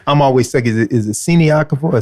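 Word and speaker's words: Siniaková: Well, a secret I'm starting to do now is if it's a Czech player, I listen to see how does Martina pronounce her name. Right. And I say, Siniakova.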